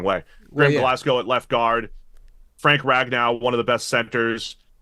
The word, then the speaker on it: Glasgow: Americans like to pronounce Glasgow like Ragnow, like Glasgow, and it's just not. There's a place. No, it's called Glasgow.